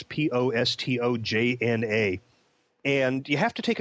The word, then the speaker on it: Postojna: I think that's pronounced correctly. It's Postojna.